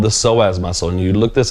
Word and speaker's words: psoas: But the muscle that actually holds up or supports the spine is called the psoas muscle. And you look this up, it's spelled P-S-O-A-S.